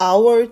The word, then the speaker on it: hour: 아워 시간이라는 단어가 쓰였는데요 참고로 아워의 첫 글자 h는 묵음 처리되어 5부터 발음해서 our이라고 읽습니다 8시간에 표현하기 위해서 숫자 8과 둘 이상의 수가 쓰였을 때 표시하는 복수형 s가 our t에 추가되었어요 동안이라는 뜻에